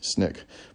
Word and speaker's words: SNCC: Under Baker's guidance, the students formed the Student Nonviolent Coordinating Committee, SNCC, pronounced SNCC.